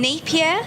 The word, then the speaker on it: Napier: In Napier, is that how you pronounce it? Napier, yeah.